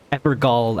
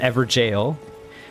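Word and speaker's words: Evergaol: also have another uh epergal as i was calling them i looked it up and it actually is just pronounced jail which makes more sense it's an ever jail for creatures that were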